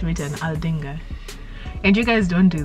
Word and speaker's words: Aldinga: the way it's written aldinga and you guys don't do that we say or ordinger but it's a l right how is that oh we don't always pronounce it the way it's spelled it because yeah so